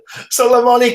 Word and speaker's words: Solomone: I don't know how to pronounce his first name. Can you help me out with that? I see a Kata. What's the Solomoni Kata? Yes, boy. Well done, and the fans go wild. Always love your pronunciation of that, sir.